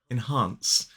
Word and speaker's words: enhance: question is this one enhance two syllables the stress is on the second syllable enhance so the first syllable